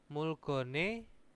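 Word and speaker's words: 물건의: Mulgone, nah ini dibacanya bukan ei lagi, ini dibacanya ne ya, mulgone. Nah, nanti ketika ini e itu ada berada di tengah, itu bacanya i. Nah, kalau di depan itu ei. Nah, ini teman-teman kalau misalkan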